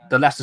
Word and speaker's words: Leicester: So if I had a friend and his name was Lester, I'll tell you how he would probably spell it. It'd be LESTER. Well, in all fairness, the Leicester Square like mascot is